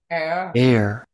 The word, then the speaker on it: heir: Air, Air.